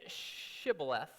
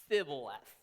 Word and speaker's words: Shibboleth: But it says, they said to him, then say Shibboleth. And he said, Sibboleth. For he could not pronounce it right.